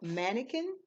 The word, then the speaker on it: mannequin: so you can remember this word that's how it's spelled mannequin and the way it's pronounced is Man II